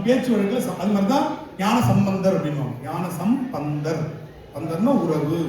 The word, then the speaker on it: ஞானசம்பந்தர்: இதுல என்னனா மூன்று வயது ஞானசம்பந்தர் ஆகும். சரியா அப்ப அந்த நேரத்துல நல்ல உச்சரிப்பு நிறைய தவறு பண்ணுவோம் ஞானசம்பந்தர் சொல்லக்கூடாது. ஞானசம் பந்தர் பந்தம் என்றால் உறவு. பந்தம்னா உறவு. சம்னா நல்ல என்று பொருள். ஞானத்தோடு நல்ல உறவு வைத்தவர் அதனால் ஞானசம்பந்தர் இதை சொல்லிட்டு வாரியார்